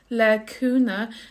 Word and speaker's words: le cúnamh: So in Connacht, which is the dialect I speak, it's le cúna, and you don't hear the ending, it's silent. Le cúna dé.